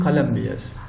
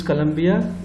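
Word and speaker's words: Columbia: colombias the first one colombia it is a name of a country in south america it's a south american country and this colombia is the capital city of south carolina in the united states pronunciation is the same only the spelling is slightly different and now compare to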